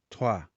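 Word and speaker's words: trois: fica fraco então fica a letra e tem um som mais aberto uma sonoridade semelhante ao a toa toa e eu fiquei pensando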